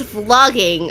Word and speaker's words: vlogging: It's vlog, but not flow. yeah. Oh, I get it. It's vlogging. Oh, okay. Yeah, vlogging. Oh, it's with A, Kaela. It's with A, not with O. That's how we pronounce it, I guess. Flogging. No. Also, it's not the feet. like softer. Flogging. Vlogging? Like that? I don't know. That's painful. Vlogging? Vlogging. Muna saying it right. What? Vlogging? It sounds the same. It's softer, like vlogging.